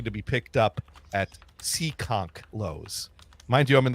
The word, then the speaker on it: Seekonk: I didn't say Seacock. I said, damn, it's in town. It's Seekonk.